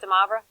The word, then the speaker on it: De Moivre: I assume it's pronounced De Moivre. Oh, it's French. I'm going with the French pronunciation.